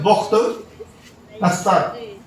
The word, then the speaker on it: بخت نصر: بابل کا بادشاہ، شہر بابل کا بادشاہ بخت نصر، اس کو بہت سے لوگ بخت نصر پڑھتے ہیں لیکن اس کا صحیح پروناؤنس ہے، صحیح تلفظ ہے بخت نصر.